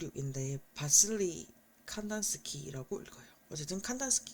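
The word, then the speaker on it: Kandinsky: 누구 있고 한데 여기서는 이게 와 아인데 바슬리 칸스 키라고 읽어요 어쨌든 칸스 칸단 스키요 사람에 의해서 가장 잘 보여줍니다 그럼요 사람이 어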